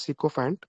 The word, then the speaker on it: sycophant: The next word is sycophant. Okay, it's pronounced as sycophant.